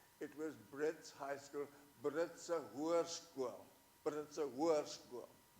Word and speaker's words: Britse Hoërskool: It was Brits High School, Britse Hoërskool, Britse Hoërskool. Only she pronounced it Brits Hoërskool, which meant the horse school.